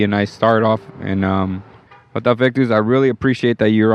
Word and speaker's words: Jota Effectus: So my name, I go by the name of Jota Effectus, and it's spelled by JOTAEFFECTUS, Jota Effectus.